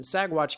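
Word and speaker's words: Saguache: course are located in sagwatch county the g is silent guys like lasagna up here in sagwatch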